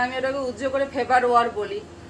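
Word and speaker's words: Farberware: ছুরির নাম ফারবার ওয়ার। তো এই আরটা অনেক সময় আসলে উচ্চারণ করে না, আবার করলেও সমস্যা নেই, আমি ওটাকে উজ্জ্ব করে ফেবার ওয়ার বলি।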